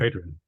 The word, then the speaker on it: Adrian: How do people pronounce your name just before I mispronounce? Adrian, yeah.